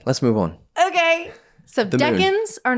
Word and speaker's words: decan: And they're pronounced decans and not deacons. Deacons are in the church system.